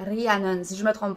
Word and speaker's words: Rhiannon: Et plus précisément, on prononce son nom comme il faut en gallois, qui est Rhiannon, si je ne me trompe pas.